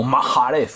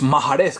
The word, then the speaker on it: Mahrez: que es Riyad Mahrez, o Mahrez, como le llaman en las transmisiones de Movistar, que yo tengo visto alguna, pues Mahrez, que parece ser que es la pronunciación ideal, perfecta, ¿no?, de este jugador.